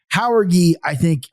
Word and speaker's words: Jauregui: So I'm going to take Jauregui. But you're very comfortable pronouncing the name.